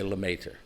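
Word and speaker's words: Lemaître: net than that though most people say Lemaitre that is lem AIT re limit in addition to being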